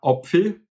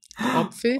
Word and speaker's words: Apfel: Apfel wäre Opfel. Opfel.